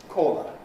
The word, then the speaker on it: caller: So long and short the vowel in a core has close lip rounding in modern RP and so on. Caller it is the most rounded vowel we have. Caller the shorter vowel in D is not so close and not so rounded.